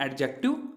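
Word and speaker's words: adjective: इसकी प्रोनाउंसिएशन कैसी होगी, जो स्पोकन इंग्लिश में लिखा तो जाएगा ये एडजेक्टिव, लेकिन जो बोला जाएगा, जो आपकी डेली लाइफ में जब आप उसको प्रोनाउंस करोगे तो वो करोगे आप एडजेक्टिव, यानी इसमें क्या होगा, डी साइलेंट हो जाएगा।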